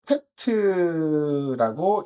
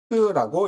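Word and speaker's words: טית: 이 테트라고 있는데 테트는 이 바구니, 이 바구니 모양이 이렇게 생겼죠. 바구니가 있고 여기 손잡이가 있고 뭐 이렇게 해서 사람들이 이렇게 바구니 모양으로 테트라고 읽습니다.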